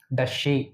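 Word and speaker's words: does she: இங்கே பாருங்கள், டஸ்ஸு ஷீ, டஷ்ஷி, இந்த வார்த்தையில் நீங்கள் சொல்லி சொல்லி பழகுங்க. இதுதான் அதோட கரெக்டான ப்ரொனன்சியேஷன்.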